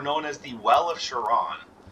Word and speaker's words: Charon: as the well of charon or they pronounce it caron but i still think that's wrong the well of charon